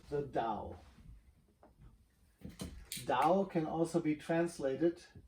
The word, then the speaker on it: Tao: Sometimes you see Tao also spelled with a T, could be Tao. That is only a matter of how you transliterate things from the Chinese characters and the Chinese pronunciation into English. I guess it is something, the sound should be something between the D and the T.